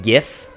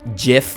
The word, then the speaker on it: GIF: If you pronounce it gif and not jif or GIF, we're going to have a big problem.